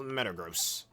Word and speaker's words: Metagross: You don't pronounce the word, oh, that's gross, as, oh, that's gross, right? Metagross. Or gross salary as gross salary.